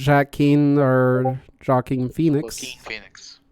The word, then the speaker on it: Joaquin: it's because that J is read out as an H, and you have a Right. U, but instead of going U, you pronounce it as Joaquin. Ah, walking.